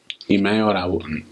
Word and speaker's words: Emmanuel: to teach, you'll say Imayo na waple Imayo, or na waple Imayo go, looking for Imayo. So Emmanuel will be the boy's name. So Emmanuel, that's how they say it.